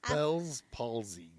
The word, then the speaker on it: Bell's palsy: i always say it wrong fellas paul's lead bell's palsy yeah and i'm like what is that and